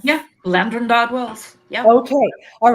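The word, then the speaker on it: Llandrindod Wells: Landrindod Wells? Yeah, Landrindod Wells.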